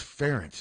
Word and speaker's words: Ferentz: The easy thing is it just rhymes with parents. Yes. It's not. Hello. It's nothing to do with rent. It's Ferentz.